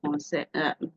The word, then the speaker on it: français: Donc, par exemple, en français, we say this, pronounce this as what? Français, français, français. Can you see? I didn't pronounce the S. The S is not supposed to be pronounced.